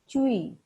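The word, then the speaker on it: 吹: associated with the lungs chewy pronounced like tui with a forceful exhale which is associated with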